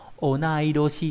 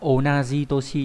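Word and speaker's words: 同い年: Toshishita là người kém tuổi, và người bằng tuổi là onaidoshi. Các bạn lưu ý không phải là onaji toshi nhá.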